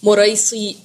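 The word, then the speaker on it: مريسيع: गजबे मोरे सी इसको अब स्पेल करना इसको प्रोनाउंस करना भी आपको आना चाहिए मुरई सी ये एक ही गजबे का नाम है ठीक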